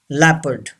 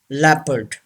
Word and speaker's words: leopard: number eight leopard yes o is not pronounced and r is also not pronounced both are silent leopard say this word leopard number nine cough yes